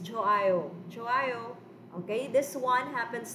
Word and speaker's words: 좋아요: Right here, class, this one, this is silent. Hawa na ni siya sound ang hiyot. So don't say 좋아요. No, it's 좋아요.